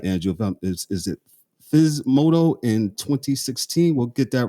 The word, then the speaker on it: Physmodo: Physmodo.